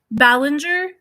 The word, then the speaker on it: Ballinger: ways that influencers really aren't supposed to colleen ballinger do you that's how you pronounce her last name aka miranda sings got